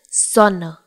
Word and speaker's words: Sonne: the letter S in German sounds like Z in English when placed at the beginning of a word and it is followed by a vowel. Here, O is the vowel, which is why the pronunciation of this word is Sonne.